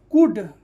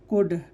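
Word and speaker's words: could: एल डी क्या होगा, कुड, एल का उच्चारण नहीं हो रहा है तो क्या हो जाएगा, ये कुड।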